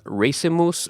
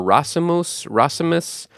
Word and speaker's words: racemus: It comes from the Latin word racemus or racemus. I'm not really good at pronouncing Latin, but it's R-A-C-E-M-U-S, and that means